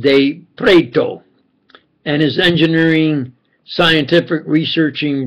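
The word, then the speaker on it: De Pretto: swiss italian scientific friends especially michael baso augusto de pretero pronounced spelled capital d e capital p-r-e-t-t-o pronounced de preto and his engineering scientific researching brother olinto de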